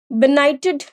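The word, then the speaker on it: benighted: मतलब कृपा दया परोपकार बिनाइटेड अब इसमें डी देखिए जी और एच एक साथ है तो यह इसमें साइलेंट हो जाएगा जी साइलेंट हो जाएगा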